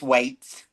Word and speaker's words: Weights: That is correct. It is waits. Okay. Like I'm waiting for this business to take off.